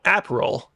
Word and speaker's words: Aperol: way for the record I mispronounces an apple Spritz because I thought it was apple flavored it's not it's like a delicious drink flavored spelled a-p-e-r-o-l it's very good very